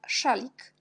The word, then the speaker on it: szalik: Puis, on a aussi SZ, on prononce toujours ch. Par exemple, quand le mot français chat, un chat, on prononce ch comme szalik, jak szalik.